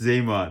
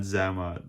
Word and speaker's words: Xamot: Actually, I got the pronunciation right now. It's Xamot, not Xamot.